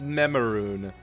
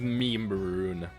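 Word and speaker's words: Memeroon: I'm sure it's meant to be pronounced Memaroon, but all I see is Meme-Maroon.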